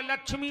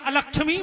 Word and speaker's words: अलक्ष्मी: आ रहा हो कि लक्ष्मी ना सामने, हम जजमान की लक्ष्मी को नाश कर दे, जबकि शुद्ध उच्चारण है अलक्ष्मी ना सामने, हम है ना चाहिए अलक्ष्मी, हमारी अलक्ष्मी का नाश करो, लक्ष्मी स्थिर करो।